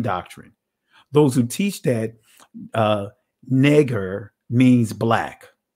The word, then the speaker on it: Niger: Because notice you see Neger, that's how you pronounce it, but it says it's a surname, Black.